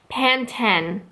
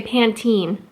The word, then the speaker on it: Pantene: like that's different because if you go to Canada and watch the same commercial or advert with Jennifer Aniston she will say Pantene which I just find really fascinating that a brand is said differently so England it's pan ten and Canada its Pantene why there's a difference